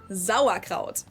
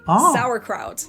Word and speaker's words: Sauerkraut: Is that English speakers are often surprised when they hear that we pronounce the S at the beginning of the word like a Z sound. Zau, while English people usually say sauerkraut.